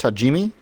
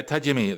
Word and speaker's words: Tajimi: yeah can you hear me yes yes it's pronounced tajimi yeah tajimi that's right and uh it's actually we're on